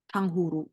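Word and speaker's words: 탕후루: Tang, Tang, terus ini H, terus ini U. Dibacanya U. Terus ini R, U. Tanghuru.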